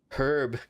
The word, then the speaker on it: herb: both a but in in American they don't pronounce the h h is silent so it makes sense to for it to be an herb gatherer but I guess